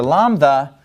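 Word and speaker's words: λάμδα: in English yota Kappa lanza and then after lambda we have the letter me me now me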